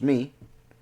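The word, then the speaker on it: מי: in hebrew is me it is pronounced me when one asks who in in hebrew and that who in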